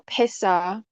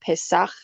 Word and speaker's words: Pesach: the word Pesach or Pesa. So the reason, I guess I'll say the reason why I think it's more pronounced Pesach instead of Pesa is because of this character right here.